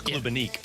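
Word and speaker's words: Klubnik: Is that how you pronounce it? It's Klubenik.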